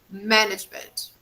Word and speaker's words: management: classroom management management management oh yes the stress is on the first management management yes very good